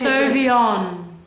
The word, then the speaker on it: Sauvignon: Sauvignon. Ah. Now, really open your mouth and say it. Come on, because this is Sauvignon.